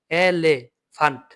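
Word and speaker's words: Elefant: আপনারা এইভাবে বানান করবেন। যেরকম এখানে একটা ধরেন এ এল এ লে, এলে ফান্ট, এফ আ এন টে এলেফান্ট।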